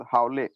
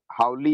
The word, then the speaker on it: Hawley: AMOS, उसके बाद हावले HAWLEY। हावली और हावले जो भी पढ़ते हो हावली ही होगा।